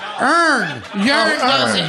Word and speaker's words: earn: is with a you it's so earn you saying yearn for no reason yearn as a y